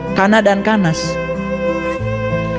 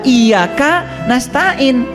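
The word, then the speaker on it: إياك نستعين: kita manggil dua itu Kana dan kanas Kana dan kanas itu itu nama-nama setan itu padahal bahasa Arabnya iyaka na'budu wa iyaka nastain tidak disatukan kok bacanya jadi Kana dan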